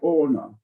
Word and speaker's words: Hohner: It's pronounced with an H, but silent, like Hohner.